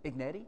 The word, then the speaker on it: Agnetti: Agnetti? Yeah, that's it. Oh, now you said, now a lot of folks mispronounce that.